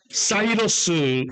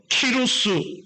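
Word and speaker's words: Cyrus: 되어 있어요 근데 이제이 고레스를 영어로는 뭐라고 발음하나요 사이러스 왕이라고 얘기해요 그 다음에 이제 요즘 교과서에서는 그 나라 사람들의 발음을 그대로 존중해주자 이렇게 해서 키루스 대왕이라고 불러요 여러분들 세계에서 책에서는 페르시아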